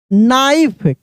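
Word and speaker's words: knife: आई एन Y shiny नाइफ के एन आई एफ यहां पे भी के क्या है साइलेंट है के क्या है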